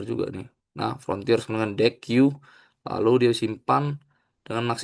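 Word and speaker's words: deque: Nah, untuk yang kasus contoh three ini, mm pertama sekali kita import dulu deki ini deck ya bacanya deck gitu.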